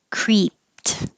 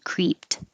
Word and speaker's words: creeped: leather and feather heather creeped the e d sounds like a t creeped cashew heath b brian